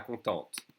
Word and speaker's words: contente: For a boy, a girl would say pas contente. Okay? We'd add an E and we pronounce the T.